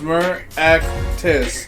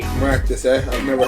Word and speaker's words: Meraktis: Well, it's Meraktis. Meraktis. Alright, Yeah, 3 syllables. Makes sense to me. Maractus, I've heard of him.